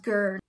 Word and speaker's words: going: Going is pronounced gurn.